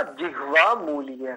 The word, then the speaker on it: जिह्वामूलीय: दोनों क्या बोलते हैं जीवा मूल का है हां बेटा जीवा मूली जिवा मूली ऐसा इसका शुद्ध उच्चारण तो ये होना चाहिए जिवा मूली जिवा मलीय हां शाबाश तो ये